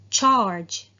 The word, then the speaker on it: charge: We have charge. Charge. Now, do you notice here? The G in the end is pronounced as J, not as the usual pronunciation G.